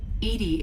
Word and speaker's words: EDI: no blue named edie edie is the phonetic pronunciation like theoretically they that